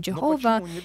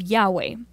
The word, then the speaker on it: Yahweh: And so Jehovah, that they also say Jehovah, the name Jehovah, is also an incorrect pronunciation of Yahweh.